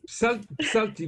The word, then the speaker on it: Psalti: Alors, Pslati, il faut cracher un peu. Psalti, vous pensez juste le mot psalmodier. Ça vient de là, psalmodier, psalti.